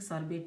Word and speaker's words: sorbet: This is peony sorbet, I think sorbet T is silent, sorbet peony.